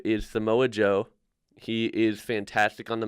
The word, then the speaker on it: Samoa Joe: Just on the name alone, Samoa Joe, I'm pronouncing it right?